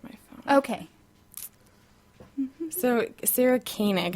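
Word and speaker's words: Koenig: e n IG and I how she pronounced it as kanig is how I hear her pronouncing it but I read it as cig or yeah that was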